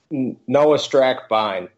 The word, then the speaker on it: Noah Strackbein: Noah Strackbein.